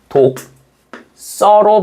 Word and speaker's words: 독서: 앞말에 받침이 뭘로 끝나? 기억으로 끝나죠. 뒷말의 첫소리가 뭘로 시작하니? 씨옷으로 시작합니다. 그래서 파열름 뒤에 경화가 오기 때문에 얘는 독 써로 발음한다.